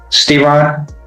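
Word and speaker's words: Steron: How do you pronounce it? Stron.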